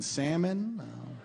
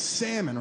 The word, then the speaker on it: salmon: Like I should have known that we weren't going to be compatible the second I heard her pronounce the L in salmon.